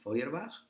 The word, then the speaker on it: Feuerbach: otros autores como feuerbach no se se lee así feuerbach aunque se escribe forbach Bueno pues que esta